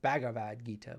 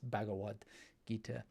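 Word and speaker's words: Bhagavad Gita: same thing with bhagavad-gita it's it it's commonly pronounced bhagavad-gita but its bhagawad gita I'm not so precious about these things what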